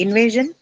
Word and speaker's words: invasion: Invasion. Invasion. Way. Way. Right. Invasion has to be on way.